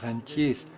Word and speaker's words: Rentier: Los estudiantes de las ciencias económicas tienen que tener mucho cuidado para no pronunciar este término a la alemana. Sería entonces Rentier. Se escribe igual, pero con esta pronunciación el significado cambia a Reno.